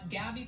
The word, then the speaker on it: Gabby: and our employees had mispronounced her name they said gobby instead of gabby and which is why